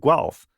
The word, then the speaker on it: Guelph: So I work for University of Guelph, that's how it's pronounced.